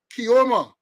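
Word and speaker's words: Keoma: it was revealed that attorney kioma overpronouncing it right k-e-o-m-a Griffith it was revealed that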